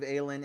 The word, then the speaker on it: Aylin: So with all So that being Aylin, said, Aylin is how I say it. Aylin. Aylin. Okay. L-I-N is the phonetic pronunciation.